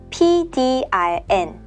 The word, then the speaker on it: PDRN: Koreans just say the English letters. PDRN.